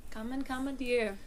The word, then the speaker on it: Common, Dear: Commandeer.